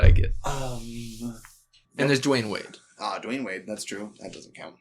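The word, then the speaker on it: Dwyane Wade: he's spelled his name it's duin the the y is before the a d wayne it's d wayne d-w-y-a-n-e instead of d-w-a-y-n oh it's do we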